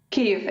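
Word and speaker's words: Kyiv: live now Oksana um Keith the correct correct pronunciation cave exactly hi that's what we'll do that's what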